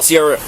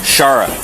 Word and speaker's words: Shara: no okay well Sierra am I saying that right Sierra sh I'm sorry okay I said your name wrong like four times I I'm terrible oh let me get out of your way how do I say it sha Shara okay I'll try to